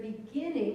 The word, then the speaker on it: beginning: who knew that but in the word happening the accent is on the first syllable whereas in beginning it's on begin it's on the second syllable so little nuances like